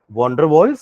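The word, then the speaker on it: van der Waals: होते हैं केमिस्ट्री की लैंग्वेज में हम उसको वांडर वॉल्स force of attraction बोलते हैं सुन रहे हैं वंडर वॉल्स स्पेलिंग देखिएगा वांडर वॉल्स force of attraction और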